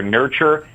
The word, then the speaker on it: Nyrture: They're Nurture, but it's spelled NYRTURE.